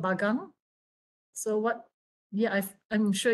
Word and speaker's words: bagang: So here in Sabah, it's called bagang.